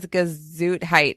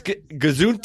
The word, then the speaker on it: Gesundheit: What does Gesundheit mean? Delirium tremens is a rapid onset of Delirium. You didn't say it right. It's Gesundheit.